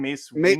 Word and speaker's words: Mace Windu: Mace Windu.